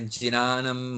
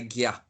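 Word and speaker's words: jñāna: But the way I was taught is to say gya. That J-N, when you see a J and an N together, the way I was taught to pronounce that is gya.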